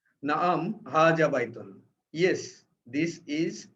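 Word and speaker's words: هذا: কিন্তু এটাকে উচ্চারণ করি আমরা হাজা, হায়ের উপরে একটু টান দিয়ে দিচ্ছি, কিন্তু হাজা না বলে হাজা বলি। তার মানে এটা প্রকৃতপক্ষে উচ্চারণ করা হচ্ছে হায়ের সাথে একটা আলিফ যুক্ত করে একটা জবর দেওয়া হচ্ছে, হাজা।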